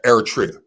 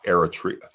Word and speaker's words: Eritrea: damn they from Eritrea airtria make sure you say it right it's Eritrea Dave from Ethiopian they